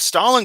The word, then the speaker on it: Stalin: You seem to pronounce Joseph Stalin correctly, even though it's more correctly Ysef Stalin and that's not even his actual name.